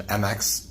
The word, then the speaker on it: Mx: it so for pronunciation mx is pronounced like mix like you're mixing things together so it's mixed sequel